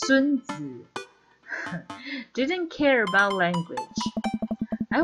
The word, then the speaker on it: Sunzi: Actually it's pronounced Sunzi.